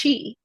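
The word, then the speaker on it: qi: A lot of people know the Chinese version, which is pronounced Chi, Yes.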